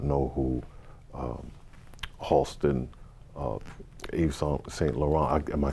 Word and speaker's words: Yves Saint Laurent: You couldn't come into the fashion world and not know who Halston, Yves Saint Laurent, am I saying it right?